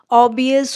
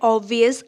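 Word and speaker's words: obvious: word देखते हैं ओबवियस ओबवियस होता है ऑब् वियस नहीं होता है बी साइलेंट इसमें नहीं है तो इसका हिंदी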